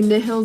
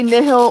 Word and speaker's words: Nihil: also have the newest set in Japanese nullifying zero aka Nile Zero aka Nihil Zero. I say Nihil only because that's how it's pronounced in Latin and my degree is in Latin.